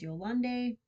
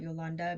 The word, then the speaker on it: Yolande: Uh it could be yoland but it's spelled with an e after the d and I've heard that pronounced as yolande not yolanda because it's an e not an a.